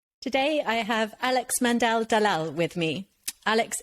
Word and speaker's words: Aalex: from Iraq um and the way that he says my name is pronounced Alex uh and growing up